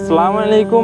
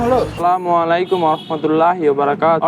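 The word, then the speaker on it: السلام عليكم ورحمة الله وبركاته: তাহলে আমি এতদিন ধরে প্রাণ পাখি সঠিক উচ্চারণ আসসালামু আলাইকুম ওয়ারাহমাতুল্লাহি ওয়াবারাকাতুহ অর্থ আপনার উপর শান্তি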